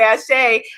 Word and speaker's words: Asé: We're raising the energy, Goddess Leticia says, or Leticia or Leticia says, in the Caribbean we say Ashay and do not pronounce the A at the end, just as in Espanol.